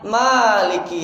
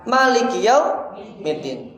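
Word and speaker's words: مالك: kita ada yang membaca Maliki yaumiddin ada yang baca Maliki ada yang baca panjang ada yang baca pendek mana yang benar nah dua-duanya bener nggak bisa kita ada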